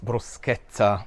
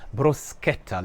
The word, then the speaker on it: bruschetta: So the correct pronunciation for this beautiful and simple dish is bruschetta. Look at it as if the CH were to be written with a K.